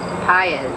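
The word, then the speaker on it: Patz: very famous child, Etan Paez, who is Pate, as some people pronounce it, whose parents have, as the Goshes have, spent endless hours searching for their lost son, and much pain.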